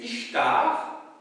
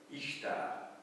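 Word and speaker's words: Ishtar: c'est en fait le temple de la déess ichtar dont j'ai pu vous parler au mois d'octobre vous la déesse de l'amour et de la guerre en Mésopotamie DESS quionte à l'époque au 3è millénaire ichtar donc i s t a r alors vous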